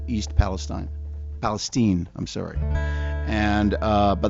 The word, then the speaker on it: Palestine: And uh but the problem is it's spelled Palestine. And originally we had the song called East Palestine. Palestine uh and everybody read it as Palestine and thought it was about a whole different thing than it was.